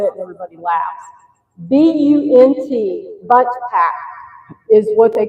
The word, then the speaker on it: Bunt: BUNT, Bunt Pack, is what they come in. Not a butt pack, a bunt pack.